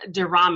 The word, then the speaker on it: Durham: so with me today is it is Kim Durham oh did I say that right I forgot to ask you how to pronounce your last name you in the first